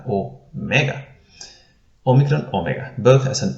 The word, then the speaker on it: omega: we have the letter omega omega which we will render as an o as well but this is a long o we had o migron now we have o mega omegran omega both has